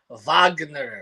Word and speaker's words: Wagner: you're gonna take him you gotta pronounce it correctly here repeat it David Vagner V Mo Vagner he he he he's